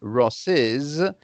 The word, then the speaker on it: Ross's: see so it's always ross's sister whether you write it or not you still need to pronounce that s after the opposition that's good to know